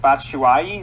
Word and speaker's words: Batshuayi: Batshuayi, is that how you say it?